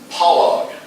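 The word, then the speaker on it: פלג: That slash is actually like an aw type sound. And polog, let's see if he'll speak it for us here. Polog. Yeah, polog. And you see the emphasis is on the last syllable.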